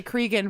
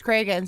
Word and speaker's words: Cregan: for me but I don't have any reason to say Cregan versus Kragen so I think I'm gonna try to move my pronunciation over to Craig and if I can